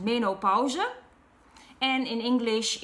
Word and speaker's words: menopauze: In Dutch it's pronounced menopauze, and in English it's, I think, menopause.